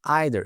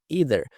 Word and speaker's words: either: Aqui ela fala either, só que se você for pesquisar no Google Tradutor, por exemplo, o som dessa palavra, eles vão falar either. Você pode falar dos dois modos que muitos nativos falam, tanto either quanto either.